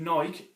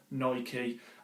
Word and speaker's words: Nike: doesn't annoy people but I do take onboard the viewer that did tell me that I was pronouncing it wrong which which is a fair comment own I did check it out on the internet and the director of Nike did clarify that it was actually Nike Boram I'll flip between